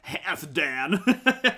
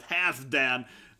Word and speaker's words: Halfdan: But this name is pronounced more like Halfdan. Halfdan? Halfdan, yeah. Half. Halfdan. So this is more like Halfdan. Typical double name, probably if you like that, it's probably easy to pronounce it right. So think more like two words, and a lot of